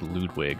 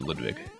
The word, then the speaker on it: Ludwig: Which I always pronounced the German way, even though I know that in the trailers, for the patch, like I think they just pronounced him the American way, like Ludwig or something. But no, I've always said Ludwig.